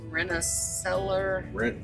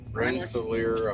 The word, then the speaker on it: Rensselaer: We ended up getting a load out of, I think it's pronounced Rensselaer, Rensselaer, I believe. New York. Rensselaer or something.